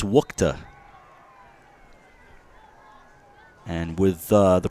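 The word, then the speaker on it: Wuchte: It's spelled W-U-C-H-T-E. It is Wukta.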